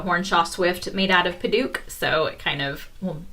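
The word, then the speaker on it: padauk: if I remember right, it's spelled like Paduak, and I wasn't sure, you know, is it Paduak? Apparently no, it's just Paduak.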